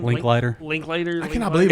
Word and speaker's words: Linklater: Linklater. Linklater. I cannot Linklater? believe It's it's all he done. I like that know. movie. Dude. I think that's the only Richard Linklater movie I like.